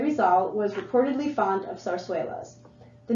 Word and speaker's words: zarzuela: This style of theater is a holdover from the days of Spanish colonization, pronounced zarzuela.